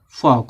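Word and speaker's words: folk: इसको पाम पढ़ा जाएगा इसको फोल्क नहीं पढ़ा जाता इसको पढ़ा जाता है क्योंकि एल के बाद के है तो एल साइलेंट रहेगा क्या हो जाएगा फॉक हो जाएगा तो य था कि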